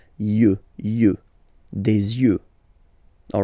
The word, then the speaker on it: yeux: œil, un œil, des yeux, des yeux, des yeux, yeux, okay? Don't pronounce the final X as usual. Yeux, des yeux, all right?